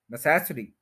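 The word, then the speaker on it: necessary: ई नेसेसरी नेसेसरी नेसेसरी नेस के ऊपर stress करेंगे उसके बाद श साउंड है यह वर्ड कभी भी गलत नहीं होगा नेसेसरी नेसेसरी नेसेसरी वर्ड नहीं है इसके फोर सिलेबल है फर्स्ट के ऊपर स्ट्रेस है नेसेसरी य आप सुन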